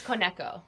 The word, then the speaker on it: Koneko: or k sorry how am I meant to pronounce it I've been saying it wrong this whole time it's kco kco okay yeah um so I started working